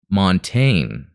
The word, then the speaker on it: Montagne: Montagne is pronounced Montaigne. Oh, okay. Like the word train without the R and with a short O sound.